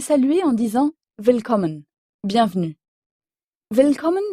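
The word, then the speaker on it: Willkommen: en disant vcomon bienvenue vcommen s'écrit W I 2 l k O 2 m e n Vcom en allemand le W se prononce en effet comme un V français vcommen bienvenue vcommen quant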